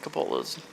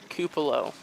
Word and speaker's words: Capolo: So we've been saying Nick Capolo's name wrong. As per my dad, it is Cupolo.